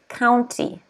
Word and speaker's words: county: the next word is county county okay county can you say that at home county stress is on the first syllable county but don't forget to pronounce the y don't say count because